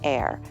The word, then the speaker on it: heir: For example, we say an hour, an honor, or an air because they all start with a vowel sound since the H is silent.